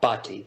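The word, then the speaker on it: Bhati: yes sir i'm here how do you say your name sir uh bhatti is my last name okay thank you dr baki uh the honorable thomas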